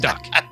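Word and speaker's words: Duque: His last name's got to be Duck. Spelled D-A-H-N. But he prefers Don. Well, no, it's D-O-N, but D-U-Q-U-E. Just pronounced Duck.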